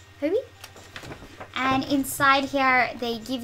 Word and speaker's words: Hobie: I think you pronounce that Hobie, so H-O-B-I, Hobie.